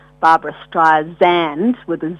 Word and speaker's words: Streisand: Like Barbara always was frustrated that people would pronounce her name Barbra Streisand with a Z, when it's sand, like sand on the beach.